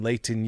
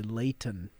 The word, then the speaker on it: Layton: like how you say when you're talking to people outside of utah you say layton you really enunciated that t that was good that's not how we say it here you know what